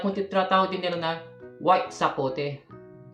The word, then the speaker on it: sapote: I love you Sabi nila ang pagtawag ang pagpronounce nila ay sapote okay Ito po iba naman po yung sapote